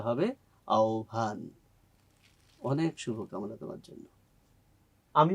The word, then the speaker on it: আহ্বান: একটা শব্দ আমি পেয়েছি যে শব্দের উচ্চারণটা তুমি বলেছো আহ্বান আসলে এই শব্দটা আহ্বান নয় উচ্চারণটা হয় আহ্বান এটা হয়তো তোমার জানার